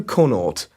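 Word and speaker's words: Conaught: It's Conort. That's spelled C O N A U G H T.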